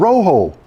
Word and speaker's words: Rojo: named the red-tailed friend Rojo the J in the word is pronounced like an H because Rojo is the Spanish word for red get it I yelled